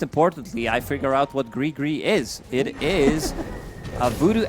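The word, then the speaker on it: gris-gris: lore from it and it is pronounced gre gre is it something you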